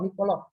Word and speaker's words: Nicolò: E con l'accento sulla O, Nicolò. Yes, should be with Oh. the accent in the last. Oh, is Niccolo.